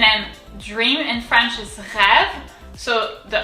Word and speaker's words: rêve: So on the E, on the first E, it's an accent circonflexe. It looks like the rooftop of a house. And it's pronounced E. It's pronounced exactly the same as the accent grave that we've already seen. So you can't tell the difference in French when it's pronounced. So it's going to be rêve.